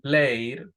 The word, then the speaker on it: played: Pero si tengo, por ejemplo, played, no pronuncio la e. ¿Por qué? Porque anterior a la ed no hay ni t ni d.